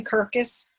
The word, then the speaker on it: Kirkus: let's start with Kirkus is that am i pronouncing it correctly Kirkus yes Oh Curtis Awards is it perfect magazines